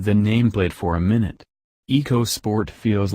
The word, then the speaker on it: EcoSport: spirited feel of the eco sport around town the Eco part of the name also doesn't really seem to apply here Ford insists the first two syllables are pronounced like the word echo which is confusing coming